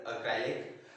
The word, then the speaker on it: acrylic: Sorry, it's pronounced as acrylic.